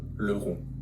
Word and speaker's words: Leroux: Gaston Leroux.